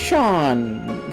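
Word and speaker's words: Seam: Name C and pronounced Sean.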